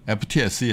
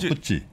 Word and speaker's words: FTSE: 아, 푸찌가 그게 공식 저 발음이군요. 네. 아 이게 우리가 그냥 그 증권가에서 금융가에서 푸찌라고 해요. 아 그래요. 네, 그걸 FTSE 하면 약간 좀 뭐라고 하나 좀 아마추어처럼 보이잖아.